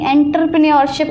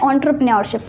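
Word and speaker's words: entrepreneurship: एंटरप्रेन्योरशिप, इसे कोई भी एंटरप्रेन्योरशिप नहीं बोलेगा, इसका करेक्ट प्रोनाउंसिएशन होता है एंटरप्रेन्योरशिप, एंटरप्रेन्योरशिप, ठीक है।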